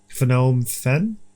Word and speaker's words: Phnom Penh: Phnom Penh? Phnom Penh? No, because they wouldn't pronounce the N.